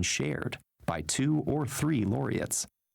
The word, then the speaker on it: laureates: About a third of Nobel Peace Prizes have been shared by two or three laureates. Laureates. That's how you say it.